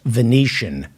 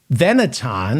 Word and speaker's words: Venetian: one person possibly be not to know it's pronounced Venetian? I would say that Kyle Rittenhouse is the dumbest person in America, but then I remembered there are Americans paying to hear him speak at the Veneton or the Venetian.